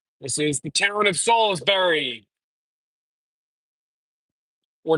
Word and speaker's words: Salisbury: It's pronounced Salisbury, not Salisbury.